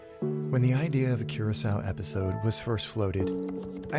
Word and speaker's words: Curaçao: When the idea of a Curaçao episode was first floated, I had to Google not just where it was, but how to pronounce it. Curaçao.